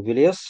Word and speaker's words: Велес: вот насильно там навязывать, насаждать ударение на второй слог. Илья, я думаю, это не такой принципиальный момент. В качестве полемического альтернативного мнения, ударение на первый слог – это немецкое влияние, потому что оно фиксированное. А в индоевропейской архаике ударение вообще произвольное и роли не играло.